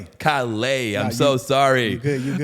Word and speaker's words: Calais: Look, it's hard to pronounce. It's French, you know what I mean? So I know I can get them S's might throw you off a little bit.